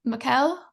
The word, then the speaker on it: Mikkel: Okay, it looks like, I hope I'm pronouncing this correctly, Mikkel? Is that? Yes, you did pronounce it correctly.